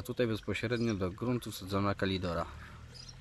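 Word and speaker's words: Calidora: A tutaj bezpośrednio do gruntu wsadzona kalidora. Napisałem kaliodora, jak jeszcze nie wiedziałem, jak to się fachowo wymawia. Kalidora, nie kaliodora. Tak samo portora, nie portodora.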